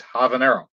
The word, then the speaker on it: habanero: Yeah, if you use Spanish pronunciation for habanero, it's habanero.